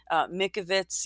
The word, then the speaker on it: Mikovits: Judy Mikovits. Yes, I had been pronouncing her name wrong.